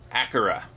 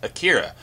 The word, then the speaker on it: Akira: review this time for an animated movie called acura or if you've never seen this movie before you may have heard it pronounced as akira as i did before i saw the film